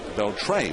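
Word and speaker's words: Beltré: Beltre, who, and that's, by the way, a lot of people pronounce that name differently, but he pronounces it Beltre with the accent on the final syllable.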